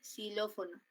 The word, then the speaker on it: xilófono: como sino Cómo suena por ejemplo siló xilófono se escribe así xilófono Pero eso es su representación con fonema porque siló fono la representación con fonema sería siempre el Slash Cómo suena como como ese esa x suena como s por eso